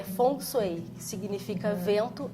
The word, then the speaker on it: Feng Shui: Que o Feng Shui, na verdade, é Feng Shui ou... Na verdade, a pronúncia correta em mandarim é Feng Shui, que significa vento e água.